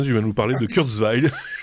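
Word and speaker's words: Kurzweil: de cours veil pour être tout précis ou enfin bon après vous emmerdez pas maintenant il est américain donc tu fais gentil avec le nom allemand c'est ses origines hein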